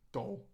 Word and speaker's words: Galle: Galley. The first one was Sri Lanka. What do you call it? Goal. Goal. Galley. Goal. There we go.